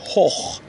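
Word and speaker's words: hoch: کلمه بعد هخ. هخ دوستان یعنی بلند، مرتفع. قبل از تی ها او قرار گرفته، میخونیم هخ.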